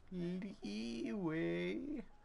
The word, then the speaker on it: Liyue: it's just too good it's pronounced leeway god the [ __